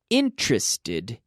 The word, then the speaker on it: interested: Interested in. Now, not interested. 3 syllables. Interested.